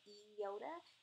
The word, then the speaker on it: iota: pronounced correctly it's really those letters that are pronounced with the Yoda not the iona but the eyota and we're gonna go through that shortly but